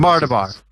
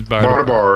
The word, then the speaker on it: Bardabar: Mardabar. It's Bardabar.